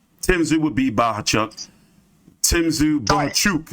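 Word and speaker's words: Bohachuk: Boachuk, excuse me, that's how he wants his name pronounced.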